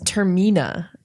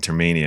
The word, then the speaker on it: Termina: I think it is Termina.